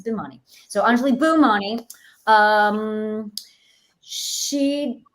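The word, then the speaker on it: Bhimani: is funny funnily uh actually a lot of people think my name is pronounced that way but it's not it's bimani so anjali boomani um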